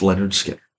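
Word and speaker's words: Lynyrd Skynyrd: that can touch this one and that is pronounced Leonard Skinner this album defines southern rock to me uh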